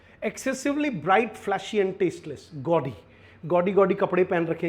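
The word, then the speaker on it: gaudy: गॉडी या औ की आवाज आएगी इसमें।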